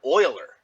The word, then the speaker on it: Euler: on and on and it's named after uh mathematician leonard oiler now it's uh it's spelled with an e but it's because he's swiss but his last name is euler but that's where the